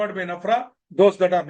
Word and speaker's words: NFRA: appointment you have to I am pronouncing nafra so don't please don't think that there is an there's a vowel in between I'm only pronouncing it as nafra if you don't want that if you don't like that you can continue to call it nfra nf okay you can it's your choice I'm using nafra but